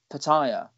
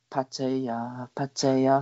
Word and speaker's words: Pattaya: been to pattaya and i've never ever said pattaya it's patty uh for anyone who knows